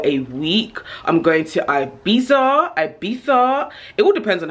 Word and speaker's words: Ibiza: to spain for a week i'm going to ibiza ibiza it all depends on how you pronounce it personally i only say ibiza but